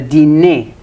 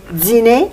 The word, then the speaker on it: dîner: Ça arrive quand un occlusif comme un d ou t rencontre un son de voyelle comme i ou u, comme dans les mots dire ou Dire.